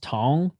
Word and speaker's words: Cong: The name isn't pronounced as it's spelled. And nice kick to the body. It's pronounced Tong.